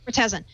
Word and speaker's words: Murtazin: Murtazin, who used to work at Nokia and now is a big thorn in their side.